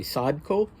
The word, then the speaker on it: Sadko: I'm glad I looked it up, because I now know that the second syllable is stressed, which I would have been more inclined to say Sadko.